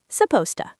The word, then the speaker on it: supposed to: melting on our desks, we almost never pronounce the heavy D and T sounds. We just smash them completely together and say supposed to, supposed to.